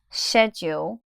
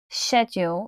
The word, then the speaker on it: schedule: sound scre scre but this word in the British English pronunciation doesn't sound the same so I'm going to go ahead and say it for you now the word is schedule now let's break it